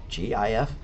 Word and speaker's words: GIF: Or if it's a GIF, G-I-F, believe it or not, you're supposed to pronounce it GIF, even though, you know, graphic interchange file, GIF.